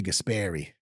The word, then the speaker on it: Gaspari: By the way, you're saying it like uh not in the New Jersey way. So you said Gaspari. Yeah. How do you say it? So if you're gonna say it in it in its original New Jersey ease, it's it's it's not it's it's Richie Gasperi.